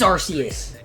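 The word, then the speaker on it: アルセウス: We're going to see what how the heck you pronounce that in in Japanese. Sus Arus. Yeah, it's Whoa, dude. It is Arus.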